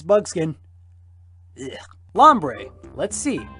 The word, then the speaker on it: Lombre: Lombre. Let's see. Rhymes with ombre.